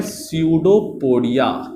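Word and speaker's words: pseudopodia: हूं मैं, बोलते हैं स्यूडोपोडिया। क्या बोलते हैं, स्यूडोपोडिया, ठीक है। स्पेलिंग जो है पी से चालू होता है, स्यूडोपोडिया नहीं बोलते हैं, तो स्यूडोपोडिया है ना, pronunciation just like स्यूडोपोडिया, right.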